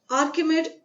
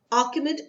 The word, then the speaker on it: Achaemenid: the city of Takshila, then capital of the Achaemenid territories in northwestern ancient Indian subcontinent, following the Achaemenid conquest of the Indus Valley. I give you the spelling of Achaemenid. It is Achaemenid.